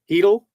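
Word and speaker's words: Chytil: Canucks forward Philip Chidle Heel out in Heedle. How do you get Oh, I guess the C is silent.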